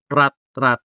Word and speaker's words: rat rat: The stress in rat rat falls on the first syllable.